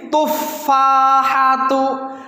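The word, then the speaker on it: التفاحة: Hadihit tufahatu ladzidatun. Sekali lagi. Hadihit tufahatu ladzidatun. Hadihit tufahatu ladzidatun. Perhatikan, hadihi at-tufahatu. Alif lamnya tetap ditulis, tidak boleh ditinggal.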